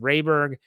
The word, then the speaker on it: Rayberg: He says, by the way, the name is pronounced Rayberg.